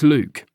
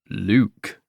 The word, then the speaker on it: Luc: Well, for starters, it's Luke. Luke. Somehow, I could always tell when people pronounced it with a K and an E.